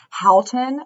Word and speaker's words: Houghton: Well, just in case anyone doesn't know, Houghton, it's like H-O-W-T-O-N.